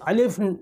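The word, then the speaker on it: الف: अब देखिए, सबसे पहले अलिफ़ है, ठीक है, अलिफ़, और इसका प्रोनाउंसिएशन आ। अलिफ़ जब लिखेंगे तो आ, और अगर इस पे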